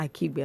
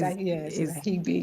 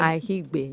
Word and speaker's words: Aigbe: It's Aigbe, not Akigbe, Abi? It's Ahigbe. Aki? Is it Ahi? Ahigbe. The K is silent. Ahigbe.